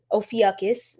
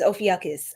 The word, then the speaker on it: Ophiuchus: Empress you would be Ophiuchus. That's how they pronounce it. It's some people. One of my mentors told me it's Ophiuchus. I still say Ophiuchus, so whatever.